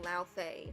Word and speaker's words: Laufey: It was such a good game, and I cannot wait for God of War Laufey. That's how you pronounce the name.